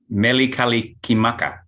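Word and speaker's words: Mele Kalikimaka: like that melee calling i can never pronounce it unless i'm singing it telewood you want to try it scott meli kalikimaka there it is that's the way it sounds it sounds you sound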